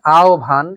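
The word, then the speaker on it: আহ্বান: সুতরাং আ ও ভান এখানে ও এবং ভ আর বিউভল এখানে রসই থাকার কারণে রসউ এবং ভ।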